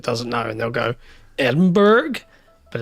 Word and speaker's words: Edinburgh: know and they'll go, "Edinburgh?" But it's not It's It's sort of like It's sort of like Worcester.